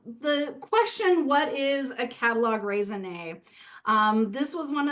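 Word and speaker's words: catalogue raisonné: in art history circles we still keep the French spelling and pronunciation of catalog raisin and simply put what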